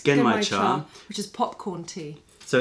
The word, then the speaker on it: Genmaicha: That's the, how do you pronounce it? It's Genmaicha, which is popcorn tea.